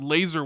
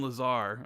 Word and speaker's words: Lazar: My name is pronounced Laser Wolf. Thanks for the great shows every week." Okay, Laser Wolf. I'll remember that. I don't know why I started saying Lazar.